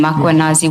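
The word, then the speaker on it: Mkhwanazi: Do you see the title of the document draft for MMC iPad Makanazi just as you pronounce his name Makuanazi with the A.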